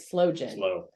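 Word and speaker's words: sloe: and then you're right slow jam slow jam which is spelled s-l-o-e true not slow as in movement yes so anyway I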